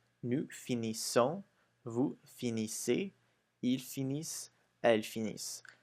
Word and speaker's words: finissent: So you'll notice that for the il and the elle with an S, you don't pronounce the ENT. You still don't pronounce it, but make sure that you emphasize on the is.